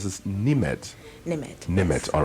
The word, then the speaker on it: Nimed: Okay, so since we're on there, and help me pronounce this, Nimed. Nimed.